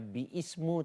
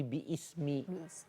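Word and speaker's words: بِسْمِ: Jadi bacanya bukannya biismu tapi biismi. Kemudian dibuang alifnya jadi bismi.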